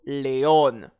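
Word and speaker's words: león: Alors, j'accentue sur l'accent déjà indiqué dans mon mot Léon. Le lion est Léon.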